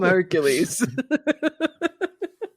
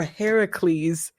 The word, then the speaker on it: Heracles: person that you see i'm hercules or heracles as it's correctly pronounced steelers god there have